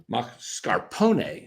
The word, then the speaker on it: mascarpone: so I went in and gave him the pronunciation for the cheese. Mascarpone.